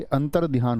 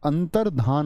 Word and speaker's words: अंतर्धान: अंतर्धान, अब ये जो शब्द होता है हमारा, ये अंतर ध्यान होता है। क्या बोलोगे? बहुत सारे दोस्त क्या बोलेंगे इसको? अंतर, अंतर ध्यान, ऐसी ध्वनि निकाल लेते हैं, लेकिन अंतर ध्यान नहीं होता, अंतर्धान होता है।